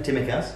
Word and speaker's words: Tsimikas: The Greek journalists have come out and said this is how you say his name. Tsimikas.